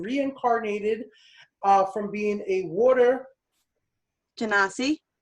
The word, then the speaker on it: Genasi: He's an artificer that has been reincarnated from being a water Genasi. Genasi. Nope. You tried though. Trying to say it properly.